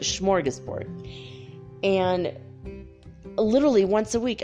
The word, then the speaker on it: smorgasbord: sure they're still there the swedish smorgas schmorge sport there's no sh but that's how you pronounce it smorgasbord and literally once a